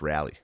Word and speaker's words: Raleigh: come back we yeah it's pronounced rally everyone gave me for it's Raley apparently no it's rally I like I like